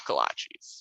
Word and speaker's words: kolache: Houston, you better have kolaches. I always thought they were called collages. Is that not true? Well, maybe that is the correct pronunciation, but down here you definitely say kolache.